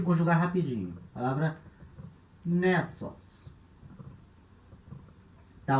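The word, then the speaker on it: νῆσος: E aqui, nessos. Nessos, ilha. Essa palavra tem que ter uma atenção especial, porque, repara, a acentuação dessa palavra ela é feita com acento circunflexo.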